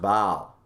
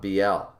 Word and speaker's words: Baal: not just bow but it's pronounced baal not bl it's beelzebub when it